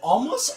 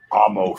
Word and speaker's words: Omos: Okay, it's pronounced ALMOS. Yeah. Like almost.